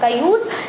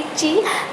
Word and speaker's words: chi: इन्होंने chi-square लिख दिया कि CHI से प्रोनाउंस हो रहा है ची, बट काय होता है, आप ची भी बोल सकते हैं, नो प्रॉब्लम। चलिए, बट हम इसको मानेंगे काय। ठीक है, इसको हम तो प्रोनाउंस करेंगे काय।